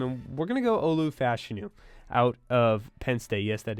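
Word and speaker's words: Olu Fashanu: pick for them and we're going to go Olu fashu out of pen yes that is how you pronounce it uh he's probably going to be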